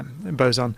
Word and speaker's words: boson: Yeah, boson.